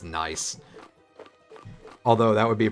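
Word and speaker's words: gneiss: even talking about the the rock that's spelled g-n-e-i-s-s then sounds like it's pronounced nice although that would be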